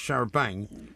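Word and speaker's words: charabanc: Often pronounced sharabang in colloquial British English.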